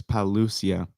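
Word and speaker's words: Pagliuca: well elaine maxwell's lawyer the g is silent okay so it's palusia like lasagna i like how it's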